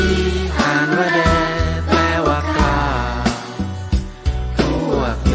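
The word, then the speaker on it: D.A.R.E.: d a r อี อ่าน ว่า แด แปล ว่า กล้า พวก หนู จะ กล้า ทำ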